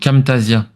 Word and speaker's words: Camtasia: J'utilise Camtasia. C'est un outil pour enregistrer l'écran, faire le montage. Camtasia, ça s'écrit comment? C'est cam comme la caméra. Et Camtasia. après, Tasia, c'est Tasia.